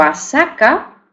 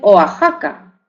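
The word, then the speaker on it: Oaxaca: pronuncian con j bien algunos restos de estas grafía se encuentran por ejemplo en topónimos con México verdad que algunas personas dicen México y otras pronuncian la palabra México verdad aunque se escriba México porque se escribe México o o asaka y otros dicen oajaca o Texas y otros dicen Tejas o los derivados de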